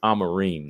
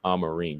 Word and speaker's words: Amorim: It's Amarim now, right? That's how they pronounce it. I'mma put some respect on her name. It's Amarim.